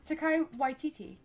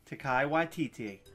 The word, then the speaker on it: Taika Waititi: How do you pronounce character. His name again? Taika Waititi. Taika Waititi.